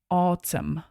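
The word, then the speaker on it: autumn: In spring, in summer, in pozor na výslovnosť. Nevyslovujeme to n na konci, len autum. Autum. In autum.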